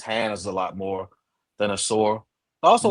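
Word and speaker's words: Ausar: That's Amen over Azor, or is his name pronounced Azor? Asor, A yeah.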